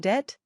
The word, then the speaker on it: dit: Finally, the word dit, which means it in English. Dit is pronounced like the first syllable in the urban word ditto, so it's dit, too, but only the first part.